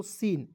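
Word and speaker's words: scene: ई एन सी ई तो इसे पढ़ेंगे दोस्तों सीन एस सीन नहीं पढ़ लीजिए इसे पढ़ेंगे सीन देखिए एस के तुरंत बाद सी आया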